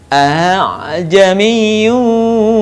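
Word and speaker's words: أعجمي: Walau ja'alnahu Qur'anan a'jamiyyan laqalu laula fussilat ayatuh a'jamiyyun wa arabi. Perhatikan, tidak dibaca a tapi a'jamiyyu wa arabi.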